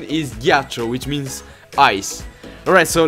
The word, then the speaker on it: ghiaccio: Ghiaccio. Alright, so the correct pronunciation is ghiaccio, which means ice.